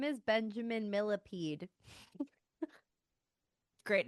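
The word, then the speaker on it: Millepied: But it's like millipede like the bug, but it's spelled like fancy. And I find it to be hilarious. I maybe it's like me pa like a thousand feet. Oh, like milliped.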